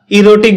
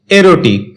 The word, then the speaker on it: erotic: এরোটিক এটাকে আমরা ইরোটিক বলে থাকি। যার সঠিক উচ্চারণ হচ্ছে এরোটিক।